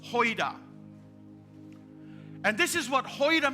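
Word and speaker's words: οἶδα: But the first no is the word hoida, O-I-D-A. Pronounced hoida.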